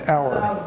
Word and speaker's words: hour: It is correct, because the H is silent in hour. It's silent.